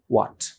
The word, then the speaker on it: what: What? Yes. What? ওই যে থাকে না 100 ওয়াটের বাল্ব, 50 ওয়াটের বাল্ব, রাইট? এই যে ওয়াটের যে উচ্চারণ, এই উচ্চারণটা এর, রাইট?